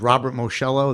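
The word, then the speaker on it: Moschello: For the record, my name is Robert Moshello. That's spelled M O S C H E L L O.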